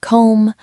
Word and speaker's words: comb: For words like comb and lamb, it is a similar story to the K. The B used to be pronounced in Old English, but over centuries, the MB cluster at the end of a word became simplified. We just stopped saying the final explosive sound.